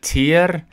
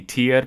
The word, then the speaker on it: tiger: And part of me may think this might be tier, but given that this is a Latin-based word, I would think it'd be tiger. Yeah. So, I mean, the pronunciation of the G really depends on the etymology of the word.